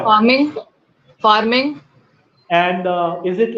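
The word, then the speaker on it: pharming: n g I think of course it is farming like like fishing farming is what I was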